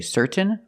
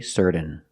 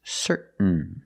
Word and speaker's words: certain: You can say certain or certain, but don't say certain. It's certain.